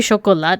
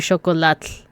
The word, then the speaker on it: chocolat: So, to pronounce this word, it wouldn't be chocolat, it would be chocolat.